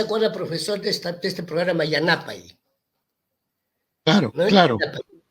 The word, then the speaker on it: Yanapay: Pero hay que decir Yanapay, porque Yanapay significa ayuda. Pero a ver, en la televisión, cuando van a comunicar, no dicen Yanapay, pues los noticieros los pronuncian Yanapay. Ajá. Ahora, si dicen Yanapay, el quechua hablante no lo va a entender como ayuda, sino lo va a entender como negro él.